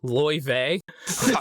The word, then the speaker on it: Lai: Uh, Lai's name is apparently pronounced Ly.